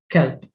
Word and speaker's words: kelb: Now, also notice here that the B is pronounced with the P. Il-kelp, kelp, which means dog.